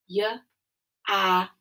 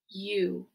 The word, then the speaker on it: you: The O-U is the tricky part of this word, and it is pronounced with the OO sound, as in you are nice.